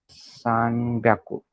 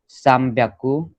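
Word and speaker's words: 三百: सान प्याकू इज 300, 600 is रुक प्याकू, 800 is half प्याकू। Okay, got it, pronunciation समझा। सो फिर 100 का सीरीज क्या चलेगा? याकू, नी याकू, साम प्याकू, योन याकू, गो याकू, रुप प्याकू, नाना याकू,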